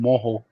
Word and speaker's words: mojo: i use this so creole marinade is called moho what it's is called moho it's actually mojo but it's pronounced yeah look it up look it up